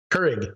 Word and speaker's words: Keurig: Keurig.